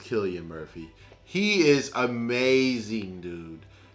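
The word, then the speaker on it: Cillian Murphy: you need to go ahead and go get selian Murphy is I apologize he said his name is pronounced Killian Murphy he is amazing dude it's time for people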